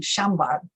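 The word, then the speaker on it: Chambard: after was the french surname shambar it's spelled c-h-a-m-b-a-r-d and i wasn't finding them and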